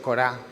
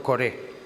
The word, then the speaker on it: Coré: y todos sus bienes Perdón he dicho corá porque así se escribe en hebreo Pero es en español se traduce por coré sus personas y sus